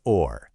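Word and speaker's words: Ohr: It's pronounced just like the English word or. Does or.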